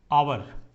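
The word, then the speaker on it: hour: हैं, हम उच्चारण ऑनेस्ट कर रहे हैं, ऑनेस्ट आवर, ठीक है। तो उच्चारण इसका हम कैसे कर रहे हैं, उच्चारण इसका हम वॉवेल से कर रहे हैं, हालांकि कॉन्सोनेंट से है।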